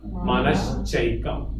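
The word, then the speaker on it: मनश्चैकम्: Manaschaikam. That's how it is. When you put together, Manaha plus cha will become Manascha, plus ekam will be Manaschaikam.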